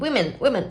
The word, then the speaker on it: women: 얘는 women 이렇게 작아졌죠. 여기서 오는 오 때문에 여기 많은 분들이 워라고 발음을 하기는 하는데요. 저도 많이 그래요. 그런데 얘는요 we 하면서 발음해야 돼요.